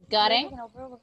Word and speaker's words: gotten: Gotten. Gotten. Esa got T se convierte en R, ajá.